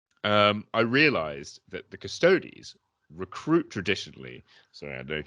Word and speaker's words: Custodes: incidentally i have to say it is actually pronounced custodies not custodes and i really hate when people like get